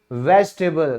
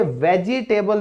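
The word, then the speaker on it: vegetable: अगला क्या है, सब्जी है भाई, वेजिटेबल। तो दोस्तों याद रखो, यहां पे ना ये वेजिटेबल जो लोग बोलते हैं बहुत गलत इंग्लिश है, ये वाला ई साइलेंट है, इसे क्या कहोगे, इसे कहोगे वेजिटेबल।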